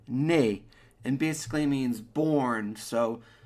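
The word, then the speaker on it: née: is the in English in French it's basically the same nay and basically means born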